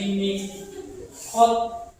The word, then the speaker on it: miqat: Iram dari miqat. Walaupun tulisannya mikat tapi dibacanya miqat pakai.